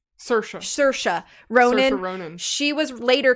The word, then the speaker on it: Saoirse Ronan: So they offered it to, I don't remember how to say her name, but I think it's like Saoirse Ronan. Saoirse Ronan.